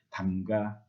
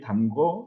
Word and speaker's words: 담가: 그렇기 때문에 를 탈락시켜서 담가, 잠가, 치러 이렇게 말을 해야 합니다. 뒤에 담궈, 잠궈, 치루어 이렇게 했으면은 잘못된 것입니다. 특히 제일 마지막에 있는 치루어,